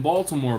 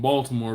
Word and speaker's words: Baltimore: Maryland so Baltimore Maryland you can tell I'm not from Baltimore because I pronounce the T in Baltimore we talked about that